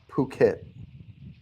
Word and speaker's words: Phuket: this time yes it did work this is pronounced Phuket never heard of that one not it yeah are you sure it's Phuket Thailand okay although you know when I get